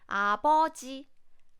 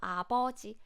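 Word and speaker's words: 아버지: is I would say it's closer to P sound with less air so a body a body is stronger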